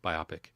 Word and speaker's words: biopic: not the short for this is biopic no biopic that's how you pronounce the words biopic yeah cool cool Reuben